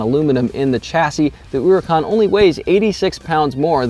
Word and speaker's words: Huracán: Looks like it should be pronounced Hurricane or Huracan. It's actually pronounced Huracan according to Lamborghini.